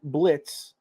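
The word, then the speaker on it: Blitzø: In Hell, Imp Blitz, the O is silent, runs an assassin business targeting the world of the living.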